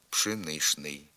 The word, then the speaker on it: пшеничний: вимовляємо яшний хліб яшник правописне пшеничний також вимовляється з групою шну пшеничний наприклад пшеничний хліб зі